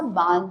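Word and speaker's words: barn: they also had अ बिग बार्न, अब यहाँ पर एक वर्ड है बार्न, यहाँ पर आर जो है वो साइलेंट रहेगा, और उनके जो उन लड़कियों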